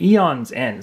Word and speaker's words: Aeon's End: original Aeons end and I want to say a on so much inside but the a is silent in this case I looked at the pronunciation and it's actually eons end so you almost have